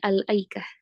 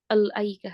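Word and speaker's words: الأيكة: Hanya saja kalau kita memang ingin ee ibtida dari sana tetap bacanya al aaikah. Tidak al aikah.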